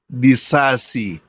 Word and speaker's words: Disasi: Then quickly, you can go tell us about Daisisi, Disasi, so to speak. I'm not sure what the correct pronunciation is. But if you're there, you have the floor, Tabejo. Axel Disasi.